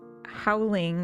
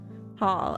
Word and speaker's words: haul: But you're saying howling, which means nothing. But I'm pronouncing it like howl, like how a wolf howls. And I don't think that's what you mean. Hall. Okay. So, it's h a u l.